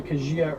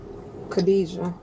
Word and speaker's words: Khadijah: And you went by Kajia as well? Khadijah. That's how you pronounce my name, Khadijah.